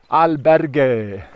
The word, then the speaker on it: albergue: She taught me how to pronounce it. Albergue.